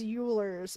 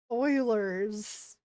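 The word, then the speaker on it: Euler: Oh, and also for the longest time because I never got that far, I used to also pronounce that as ulers and now I know it's Oilers's uh identity over I times pi + one.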